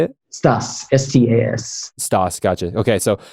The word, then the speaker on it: Stas: Stas, S-T-A-S.